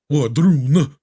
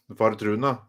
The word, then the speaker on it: Wardruna: Well, if they're Norwegian, then that means you got to say it like, Wardruna. Vardruna, yeah.